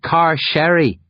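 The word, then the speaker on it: Carcery Vale: It's pronounced car sherry.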